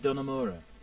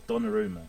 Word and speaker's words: Donnarumma: I also brought in Gianluigi Donnarumma, or Donnarumma, in fact. Say his name properly. I do apologise for saying that wrong at first. So Donnarumma is in.